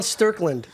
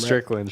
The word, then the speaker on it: Strickland: forgot I ate that earlier well anyways Sean sterland could you make sure I pronounce his name right Strickland Sean Strickland Sean Strickland yeah SE Sean Strickland